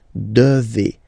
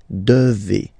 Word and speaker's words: devez: Remember, classic ending for vous here, a Z, but then you pronounce this combination of two letters, et, devez, devez, vous devez.